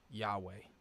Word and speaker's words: Yahweh: you, which is that it's YHWH. There's no vowel sound. The way you pronounce Yahweh is it's a breath. Matter of fact, it's the breath that you have when you have your first breath. It's the breath of life.